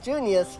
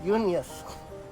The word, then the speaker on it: Junius: Not Junius, Unius. I mean, I don't know how the English pronounce it, but さすがの俺もビビったぜ。なんせあんたはリビアに売り二つなんだからな。